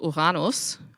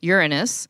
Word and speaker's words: Uranus: So typically it's pronounced Uranus, and that's how it's also pronounced in Germany. I've also, of course, heard it pronounced Uranus. And then, of course, also Uranus. So whichever version you wish to use, it's totally fine.